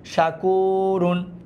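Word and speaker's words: شَكُورٌ: শিন জবর শা, calf wow পেশ কু, শাকু, শাকু, র দুই পেশ রুন, শাকুরুন। কি হবে? শাকুরুন।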